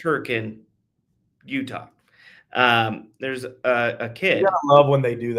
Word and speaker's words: Hurricane: Um, there's a small town in Utah, uh, called Hurricane, spelled Hurricane, pronounced Hurricane.